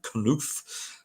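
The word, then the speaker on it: Knauff: And then you got, I think you pronounce that as Knuf.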